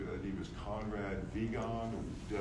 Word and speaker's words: Wiegand: I think was Conrad Wiegand, Wiegand. And I think that's how you pronounce it in German. Wiegand is W-I-E, so I think it's Wiegand or Wiegand.